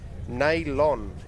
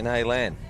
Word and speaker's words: Naylon: Naylon is how you pronounce it. What did I say? Naylan? Yeah, so Naylon. We'll go with Naylon.